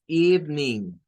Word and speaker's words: evening: Y luego agregamos la otra parte, que es lo de ning. Entonces, evening.